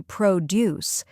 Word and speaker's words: produce: To produce something. Good catch. It is spelled the same, but the pronunciation is different. When it's a verb, we say produce.